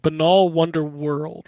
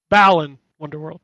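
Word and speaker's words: Balan Wonderworld: It's called Banal Wonder World, right? Balan Wonder World, sorry.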